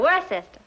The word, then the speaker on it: Worcester: Yeah, the Earl of Worcester.